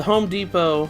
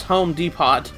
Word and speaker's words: Home Depot: I used to pronounce the Home Depot as Home Depot when I didn't realize the T was silent.